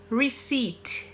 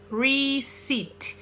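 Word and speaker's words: receipt: pronunciar aí o Pedro sai com peça recibo Ricci Ricci tá não pronuncia esse pé aí fica ruim se tem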